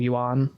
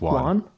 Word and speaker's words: yuan: But they have what's called the digital yuan. I don't even know if I'm pronouncing that right, but however you pronounce that. I think it's just yuan.